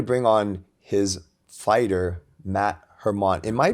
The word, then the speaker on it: Hermant: I wanted to bring on his fighter Matt Hermon am I pronouncing that last name right yeah Hermon that's perfect Hermon okay and then Matt um welcome to the